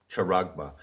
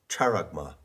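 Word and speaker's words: χάραγμα: the word character now i often mispronounce greek words by putting the accent in the wrong place so i have said character but no it's charagma and charma is a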